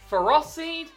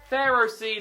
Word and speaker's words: Ferroseed: Because I pronounce it the way that most Pokemon fans don't like. That's right, I call it Ferroseed and Ferrothorn. Not Pharaohseed and Pharaohthorn.